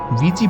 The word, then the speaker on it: Ouija: होती हैं अब आपको वीजी बोर्ड की सच्चाई के बारे में बताते हैं असल में इसकी स्पेलिंग ओवी आई जे ए होती है लेकिन इसे पढ़ा वी जीी जाता है इसका प्रयोग एक अंधेरे